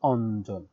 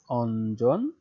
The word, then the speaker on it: অঞ্জন: তো শব্দের প্রয়োগ দেখো, অঞ্জন, তার উচ্চারণটা কিন্তু ইঞ, এর উচ্চারণ কিন্তু নয়ের মতো হচ্ছে। হ্যাঁ, অঞ্জন।